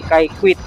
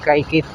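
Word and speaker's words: Kaykwit: po roon sa may kayquit ah Nag yung comment po sa atin sir Benny ay ang pronounciation daw po nila doon sa Barangay ay kay quit hindi kay kit Ah wala na yung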